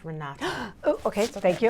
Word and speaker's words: Renate: about yourself um well my name is pronounced Renata oh okay so thank